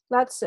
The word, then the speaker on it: Lao Tzu: And just correct me if I'm wrong, how do you pronounce is it Lao Tzu? Lao Tzu, okay.